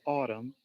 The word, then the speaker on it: Autumn: the last day of autumn in Melbourne Autumn the end is silent like to see your